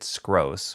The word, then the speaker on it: Skroce: In the opening and closing wrap up, I pronounced it Skroce, which is how it's supposed to be pronounced, if I'm not mistaken.